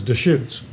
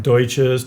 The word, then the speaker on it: Deschutes: And that's smart, because you guys have the Virginia Deschutes or Deutsches. No, they can't pronounce it in Central Oregon.